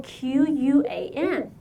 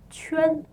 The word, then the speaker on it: 圈: Well, now you know that it's not pronounced 圈 quan, it's chuan. 圈 All right, do you hear the U sound there? Remember, the English letter U after Q is always pronounced U, so it's 圈 chuan, 圈 chuan.